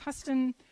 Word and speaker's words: Huston: attended several colleges wiley sam houston or huston actually i think it's pronounced huston prairie view a m